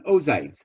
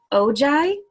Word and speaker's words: ogive: Because I was curious, and they sort of say ojai. Ozai? With a, like, almost like with a J, OJ. So let me play the Google pronunciation. Okay, please go for that. One more time, please. Ogive. Okay. Ojai. Okay, got it. Thank you. Not G, but kind of Z, right? Kind of a J.